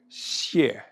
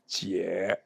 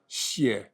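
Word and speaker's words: 解: In Putonghua, it is pronounced xie. Although the everyday pronunciation is jie. The translation is deliverance. No, no. Can you recognize the Chinese characters? Yeah. Yeah. And the pronunciation, xie, H-S-I-E-H, xie, okay?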